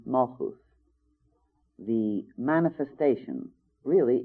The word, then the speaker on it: Malkuth: And down, when we get down to what we call Malkuth, actually pronounced Malchus, the manifestation, really it's the flower of the tree.